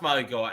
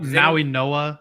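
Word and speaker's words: Mauigoa: How it's not pronounced Maui Goa. I always say it wrong. Maui Noah. I think it's an N instead of a G sound.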